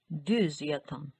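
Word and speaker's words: Düzyatan: ये भी ऊ है बट विद 2 डॉट्स यानी डबल डॉट्स के साथ, तो ये सिंपल ऊ प्रोनाउंस नहीं किया जाएगा बल्कि ü, ü, düz, düz yatan।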